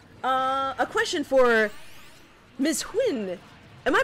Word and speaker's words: Huynh: funny you're hilarious uh a question for miss quinn am i pronouncing that right quinn right yes oh